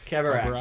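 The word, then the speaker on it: Khabarakh: Kabarak. Yeah. Kabarak. That's how they say it in the audiobook.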